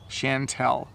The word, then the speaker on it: Chantel: My school teacher name has this name for me, and it's hard to pronounce. So Chantel.